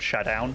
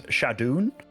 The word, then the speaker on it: ShaDoWn: know a lot of today has been about pronunciation but I remember I always called shadown like uh shadown but then apparently it's shadon shadon did you I used to say shadon